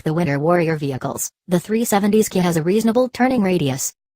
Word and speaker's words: 370Zki: to flat-foot the Nissan 370's Ki concept out of a corner in the mountains of eastern Idaho. The 370's Ki, pronounced 370 ski, is the end result